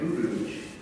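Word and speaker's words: Urooj: The main character in this hypothetical was a little girl named Rouge, that's spelled U-R-O-O-J.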